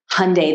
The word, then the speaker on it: Hyundai: can't say Hyundai right actually Hyundai is not the right way to say it that they tell us to say it this way so we don't really ruin it Hyundai like Sunday but you know it's